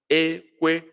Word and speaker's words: ekwe: It sounds ekwe, ekwe, ekwe. I hope that is clear enough. Ekwe, that is high, high.